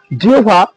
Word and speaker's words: জিহ্বা: তাহলে জিহ্বা শব্দের উচ্চারণে কি হবে? জিহ্বা রস্য প্লাস ভয়কারে ভা।